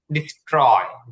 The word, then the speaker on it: destroy: এখানে দেখুন, যে টিটা আছে সেটা ট এর মতন উচ্চারণ হবে, এটা ঠ হবে না।